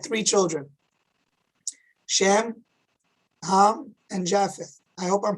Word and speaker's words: Japheth: children shem ham and japheth i hope i'm pronouncing it correct in the hebrew it's shem kham and yafit and it's believed that